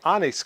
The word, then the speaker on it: Onnais: This time around I received an email from the Anise company. I believe that's the way you pronounce the name.